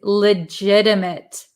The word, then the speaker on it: legitimate: the next one is legitimate legitimate so if you listen to the pronunciation Le this is a flop te legit M we don't say mate legitimate M legitimate so legitimate if you've